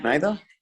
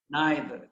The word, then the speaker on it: neither: dulce please neither neither neither thank you so much well i guess we're just missing dulce uh commando say don't be shy neither neither neither or neither okay so two different kinds of pronunciations for this lesson b